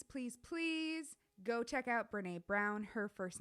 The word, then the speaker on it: Brené: or YouTube, please, please, please go check out Brené Brown. Her first name is spelled Brenee, last name Brown like the color.